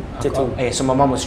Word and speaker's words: Tetum: Sorry, it's Tetum. Tetum.